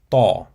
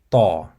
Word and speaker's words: ط: So to pronounce the character ta, you have to involve the throat to give it a deeper and more powerful quality. Once again, it's ta, ta.